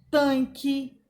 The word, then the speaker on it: tanque: Nós temos as palavras aqui, tanque, com QU, né? QU não é pronunciado.